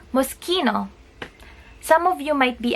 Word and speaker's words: Moschino: pronounce it musky no and not mushy no it is because CH followed by letter i' or letter e c spoken as K so it's Moschino and then we have